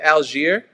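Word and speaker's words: Allgeier: a touchdown Tyler now tell me if I'm saying his last name wrong is it algier yeah this is right that's right the running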